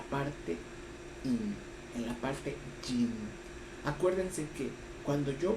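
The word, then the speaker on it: 阴: yin, en la parte yin? Acuérdense que cuando yo pronuncio yin, lo estoy pronunciando en español, pero la pronunciación en chino es in. La Y no se pronuncia.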